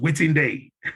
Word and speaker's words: Wetin Dey: So if I was to spell it, it's by saying waiting and day, well, it's pronounced Wetin Dey.